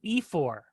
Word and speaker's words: ephor: And then there's a fourth speech by a person who is known as an ephor. Ephor is spelled E-P-H-O-R, ephor, E-P-H-O-R.